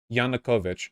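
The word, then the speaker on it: Yanukovych: not violent Bosh yeah say it right janakovich he fled on his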